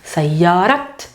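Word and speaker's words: سيارة: So sayyarat, anything that is with ta marbuta, the ta gets pronounced. Nothing changes in writing, guys. It just gets pronounced.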